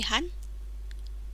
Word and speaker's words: 半: Il se prononce han.